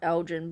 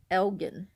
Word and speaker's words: Elgin: And people just call it Elgin, but it's actually pronounced Elgin.